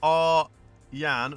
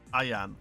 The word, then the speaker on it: Aryan: Thanks for calling my name, Haydon, but it's pronounced Ar-Yan, not Ayan.